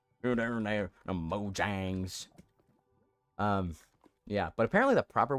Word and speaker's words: Mojang: So I'm gonna keep saying Mojang. You're there, the Mojangs.